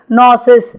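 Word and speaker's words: gnosis: அதற்கு ஞானம் என்றே அர்த்தம் ஸ்பெல்லிங் படி நோ என்று இருந்தாலும் ஜியை சைலெண்ட் ஆக்கி உச்சரிப்பில் நோசிஸ் என்றே சொல்வார்கள் நோஸ் என்றால் நோ என்கிற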